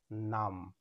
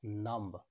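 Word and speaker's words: numb: আগে এম রয়েছে এখানে বি সাইলেন্ট এর সঠিক উচ্চারণ হবে নাম নট নাম্বা বির উচ্চারণ হবে বি এর আগে এম রয়েছে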